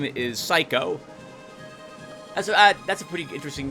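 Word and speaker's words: Saiko: The girl's name is Psycho.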